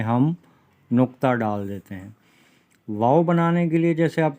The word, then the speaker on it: واو: اور آخر میں جو واو ہے اس کے اوپر حمزہ آئے گا تو یہ آواز نکلتی ہے واو۔ جس طریقے سے وہ خوشی میں کہا جاتا ہے نا واو، یا حیرت کا اظہار